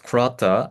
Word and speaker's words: clutter: OK、次。あとは、don't clutter things with long query strings のこの clutter の clutter。これってどういう意味？クラッターは散らかすとかごちゃごちゃにするという意味です。つまり長いクエリ文字列で物事を散らかさないようにというアドバイスですね。 clutter の発音を教えて。